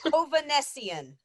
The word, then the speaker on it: Hovanessian: Oh, and Rachel, I figured out how to say his last name. Oh, good. Hovanessian. Greg? Hovanessian, and it's Armenian.